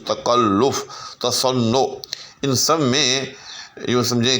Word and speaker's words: تصنع: کے اوپر پیش ہے۔ درست لفظ تصنع ہے، یعنی نام کے اوپر، نون کے اوپر بھی جو ہے وہ پیش۔ تو یہ ایک